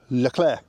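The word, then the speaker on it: Leclerc: to and it's called el cler now you don't pronounce all the letters on that you don't pronounce the first D and you don't pronounce the last C uh so it's just L Clair now um we use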